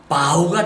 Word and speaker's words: bow: 일단 발음 조심하세요. 여기에는 bow가 아니라 bow가 돼야 되겠죠.